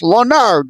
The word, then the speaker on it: Leonard: pronunciations because, again, Leonard, people look at it, they think French. It's Leonard.